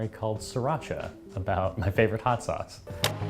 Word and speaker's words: Sriracha: 3 very distinct syllables. Sriracha.